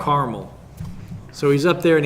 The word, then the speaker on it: Carmel: experience on Mount Carmel I always say it wrong because it's not like the it's not like the caramel that you eat caramel caramel caramel caramel Mount Carmel so he's up there